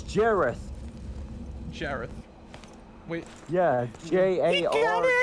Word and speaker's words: Jareth: Oh wait, no, I'm sorry, I pronounced his name wrong. It's Jareth.